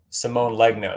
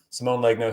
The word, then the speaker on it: Simone Legno: collect these things and that's all through samoa simone legno that's how you say his name simone legno who's a great great artist but again kind